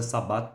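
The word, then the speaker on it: Sabbat: Eu falo Shabat, mas é Sabat também. Já vi pessoas pronunciando dessa maneira. Então, a pronuncia igual. Inclusive o meu orientador na época falava dessa maneira, assembleia noturna imaginária de bruxas e demônios.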